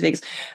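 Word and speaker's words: vagus: That's what when I doing it and then I also learned that the Vegas or Vegas nerve I don't know how you pronounce it. It's Vegas. It is Vegas.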